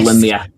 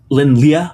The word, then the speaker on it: Lin Lie: Scott taught me that Lin-Lie, which we like kind of said right, but the second word is supposed to be one syllable, like Lyeh, which is just not a sound we use in English. So good luck with that.